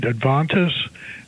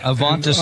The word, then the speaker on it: Avantis: And then um, but you keep mentioning Advantis and Dementia. Am I pronouncing them right? Yeah, Avantis and Dimensional.